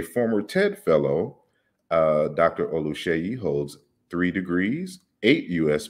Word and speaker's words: Oluseyi: so uh because i i hear people uh pronounce it without the sh that's wrong with this song i